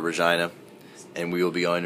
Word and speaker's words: Regina: won't say it correctly but it's actually called Regina and we will be going a Regina tomorrow